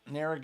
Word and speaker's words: Narragansett: a light beer though, so I don't know how to pronounce the name of this. It's a New York beer. Can you help me out? Narragansett. Narragansett.